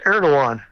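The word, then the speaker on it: Erdoğan: i would guess well you don't pronounce that g is erdogan oh okay i'm glad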